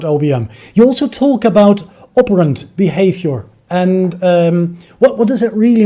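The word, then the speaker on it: operant behavior: You also talk about operand behavior. And what does it really mean if you talk about operand behavior, if I pronounce it correctly? Yeah, it's operand behavior, yeah, Yes. perfectly pronounced.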